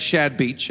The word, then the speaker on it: Chad Veach: i'm from los angeles my name is chad veach in spanish because i'm half mexican y'all you pronounce that shad beach okay but i'm coming